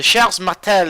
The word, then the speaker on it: Charles Martel: Now, the Charles Martel, this is how you say it in French. I'm seeing all these French ships. The Charles Martel is a little bit different.